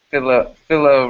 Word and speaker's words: Philo: I prefer to go by Philo as my Philo rhyming with willow is what I'm choosing to.